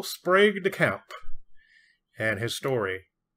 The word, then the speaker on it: Sprague: came away feeling like Sprague rhymes with plague my friends call me